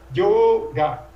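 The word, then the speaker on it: योग: E yoga tem que ter duas sílabas. Então é yoga, yoga. É uma semivogal, você fala numa emissão. Você fala io, io.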